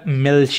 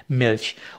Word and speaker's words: Milch: तरह मिल्च कहते हैं, यानी कि MILCH। उसमें आप देख सकते हैं कि जो CH है वो हमने शुरू में भी किया था इश में, कि वो शे की साउंड जो है ना वो आपको देता है, तो मिल्क आपका बन जाएगा मिल्च।